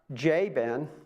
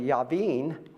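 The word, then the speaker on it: Jabin: So in our class we got Jen but he's actually Yaveen and then we got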